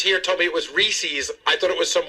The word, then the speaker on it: Reese's: How about Gary goes That's Reezy's peanut butter cups. Reezies. Did you didn't hear me? It's But the guys here told me it was Reese's.